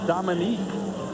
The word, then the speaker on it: Dominic: Well, it's Dominic when you look at it spelled. It's Dominique when you pronounce it.